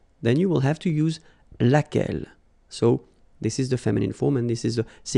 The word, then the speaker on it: laquelle: So basically same rule, QU, U is not pronounced here, and then you've got this double L-E, well, phonetically here, it is the same as what we have here, so laquelle.